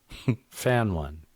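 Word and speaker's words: Fanone: I always want to say Fenon, but it's not. No, it's Fenon. Fenon. Okay. Fen one. Fan one. It's spelled like fan one in case you want to Google Fenon.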